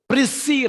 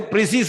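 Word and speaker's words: précis: Don't say precise writing. It is not precise.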